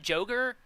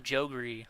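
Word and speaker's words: Jogre: fight the jeries the jogers is it joger I always called them jery like I don't know why I just always thought that's how they were pronounced but joger like jungle ogre oh oh I just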